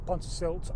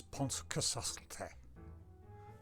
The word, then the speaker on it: Pontcysyllte: today is up to Pontesilt Aqueduct. Okay, before you Welsh people lynch me, I know I'm pronouncing it terribly wrong. As far as I can tell, it's Pontcesyllta. Pontcesyllta. I think that's right.